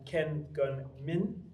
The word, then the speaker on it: Ken Gun Min: And Ken Gun Min, am I pronouncing that correctly?